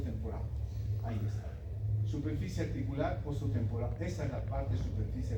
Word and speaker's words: temporal: hueso está en portugués oso temporado la l se se pronuncia como u por si acaso ya en portugués tempor se dice no oso tempor Ahí está superficie articular oso temporal Esa es la parte